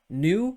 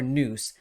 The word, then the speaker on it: Nous: pronounced either way uh nu or noose nu would be more like a french pronunciation news would be more